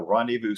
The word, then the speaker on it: Rendezvous: me uh Tyler is the organizer of the Rendevous City Roundup H is that correct I say